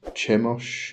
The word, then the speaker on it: Chemosh: and destruction um hos I'm sure some people probably pronounce this chos um but considering that's kind of a Semitic um or has Semitic um Origins I'm going to rather go with the pronun pronunciation if I can even say that word of hos but anyway so I'm